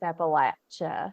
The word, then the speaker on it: Appalachia: like you're safest with latch you're safest with Appalachia yeah your that's where that's where you please